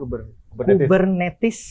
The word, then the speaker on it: Kubernetes: Bacanya Kubernetes atau Kubernetes nih, Pak? Kubernetes.